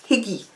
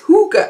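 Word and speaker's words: Hygge: spread the joy of Higgy. I always thought it was Higgy. It's Hooger, apparently. There are indulgent tea brands. So I've been pronouncing that wrong forever. It's Hooger. Never knew that.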